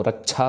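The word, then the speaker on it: ਰਛਿਆ: next रक्षा होए ताहे सब काला दुष्ट अरिष्ट टरे तत्काला रक्षा छे के साथ है तो रक्षा पढ़ना है इसको श नहीं करना श नहीं करना रक्षा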